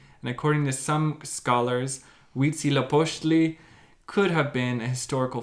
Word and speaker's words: Huitzilopochtli: So here is actually a way to pronounce it. So it's Huitzilopochtli. What the? How the? Huitzilopochtli.